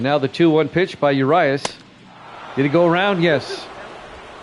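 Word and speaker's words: Urías: Urias is how it's pronounced on the mound.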